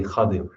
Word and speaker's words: Khadir: Sayyidina Khadir or Khidr, Khidr is the more popular way it's pronounced, but according to the linguists, it's actually more correct to say Khadir, Khadir. But either way, it's fine. It's not incorrect one way or the other.